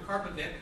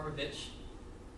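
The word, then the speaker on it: Karpovich: characters ever, depending on how you like to pronounce his name. This is Dr. Karpovic, or Karpovic.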